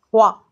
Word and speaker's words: froid: Froid, c'est froid avec un D à la fin qui ne se prononce qu'au féminin.